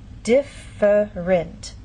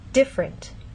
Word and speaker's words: different: In very slow careful speech and especially formal speech you might get this pronunciation different. But often in fast speech you lose that middle sound and you get different.